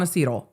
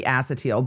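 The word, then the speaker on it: acetyl: That is the way I that's the only way I've ever heard it pronounced. So I'm with you. I'm with you. I'm with you on acetal. That's where I'm at. I'm not I can't rearrange that to be acetil.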